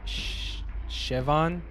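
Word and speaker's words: Siobhan: was just corrected the the girl's name is pronounced shavon shavon shavon shavon shavon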